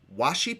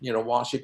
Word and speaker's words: washi: And for you, where I'm going with this is you use what's known as washi paper. Am I pronouncing that right?